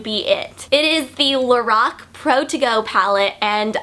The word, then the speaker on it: Lorac: I met a girl that does work for Lorac, and she said that the name is pronounced Lorac because it's actually the creator's name backwards, so Carol, and backwards it would be Lorac.